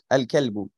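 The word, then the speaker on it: الكلب: আল কিতাবু শিখেছি সেভাবে আল কালবু এখানে আমরা লামটাকে উচ্চারণ করছি এরপরে আলমাউ আলমা মিম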